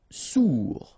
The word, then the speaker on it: sourd: Sourd, final did not pronounced, O-U together, ou, sourd.